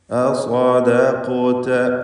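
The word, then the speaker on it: أَصَّدَّقَ: അസ്വദഖത അസ്വദഖത അസ്വദഖത. അപ്പോൾ സ്വാദിന് തഫ്ഖീം, എന്നാൽ ശേഷം വരുന്ന ദാലിന് തഫ്ഖീം പാടില്ല. ശേഷം ഖാഫിന് തഫ്ഖീം, ശേഷം താ.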